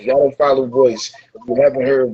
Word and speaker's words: Voyce: your voice is beautiful that's your name voice but spell it with a y not an i and I said oh